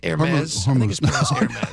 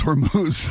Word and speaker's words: Hormuz: Is that pronounced air maze? Only when you buy a scarf. It's Hormuz.